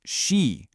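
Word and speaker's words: 十: This is 10, pronounced she. It's a rising tone, she.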